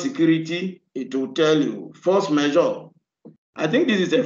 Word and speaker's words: force majeure: Okay, force majeure. That's the right pronunciation.